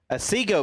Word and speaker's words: Otsego: Otsego, Michigan.